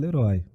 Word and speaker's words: Leroy: É o único lugar do mundo que a pronúncia é Leroy, né?